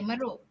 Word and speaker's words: meruk: Tapi dia ada pronounce dia tidak sama ada. Kalau sebutan bahasa ikut bahasa Melayu, lain bunyi dia sebab dia menggunakan pronounce alun bawang. Dia meruk. Dia ada masuk dalam dia punya K itu.